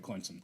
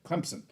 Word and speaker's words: Clemson: neighbor is going to clemon Clemson so Clemson I gotta say it right Clemson uh and yeah that